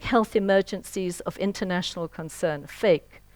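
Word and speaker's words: PHEIC: emergencies of international concern, FAKE. It's a bad pronunciation, FAKE, but they're real.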